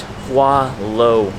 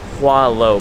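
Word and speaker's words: Hỏa Lò: I think I did mispronounce the name earlier. It's Hoa Lo Prison. Whatever I said earlier, just forget that. Hoa Lo Prison.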